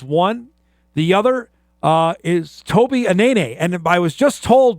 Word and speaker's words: Anene: We were told another thing for the last couple of years, that it was Anena. He says, no, it's Anene.